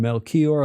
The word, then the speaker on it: Melchior: Where's the accent, Gordon? Melchior on the second syllable.